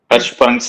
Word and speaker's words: Hirschsprung's: The pronunciation of Hirschsprung is sha with a soft sha. Hirschsprung. Okay, Okay, sir. that is how it should be presented. SCH is pronounced as sha. Sha. Yes, sir. Hirschsprung's. Okay, Hirschsprung's disease. That is how it should be pronounced. Not Hirschsprung's. Not sa. Sha.